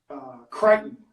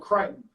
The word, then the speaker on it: Crichton: It's called Crichton. It's spelled Crichton, but it's called Crichton.